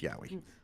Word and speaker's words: Yowie: was like, "Are you sure that's how it's pronounced? It sounds like hentai." It's Yowie, guys. It's Yowie.